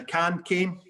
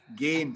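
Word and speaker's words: Gane: Kane? How do you say it? Cairo Gain. Gain.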